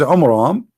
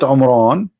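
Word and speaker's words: Amram: the father of Moses which is AMRAAM not Imran Imran wrong a wrong name I mean have you ever heard of a God he cannot even say pronounce a Hebrew word home rom how the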